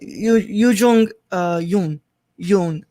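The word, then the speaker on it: Yuh-jung Youn: Hold on, let me not mispronounce the last name. Yu Jung Yoon.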